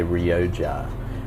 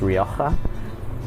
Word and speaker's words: Rioja: called rioka um a lot of people say rja but it's pronounced rioka um the wines from that area tend to